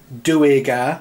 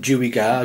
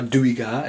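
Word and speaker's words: Duergar: how to pronounce it it's DOA apparently not Dua DOA it's doar I think um yeah but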